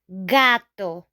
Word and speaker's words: gato: So if after our G, we have a vowel, these vowels, A, O, U, then we're gonna pronounce the G as G, G, G.